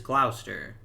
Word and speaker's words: Gloucester: chester or whatever like the british city is glouster because you always leave out the ce but at least